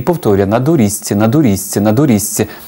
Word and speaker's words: на доріжці: сидить удома і повторює НА дурізці НА дурізці НА дурізці тобто він зазубрює заучує як правильно вимовляти на доріжці тато проходить повс і